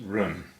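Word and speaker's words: 人: Our next character is run. Run is second tone and it means person.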